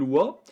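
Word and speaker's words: は: Effectivement, le wa est prononcé wa.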